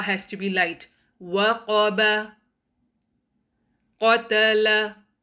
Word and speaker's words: قَتَلَ: قَتَلَ. Again, ta and lam has to be light. Only qaf will be heavy.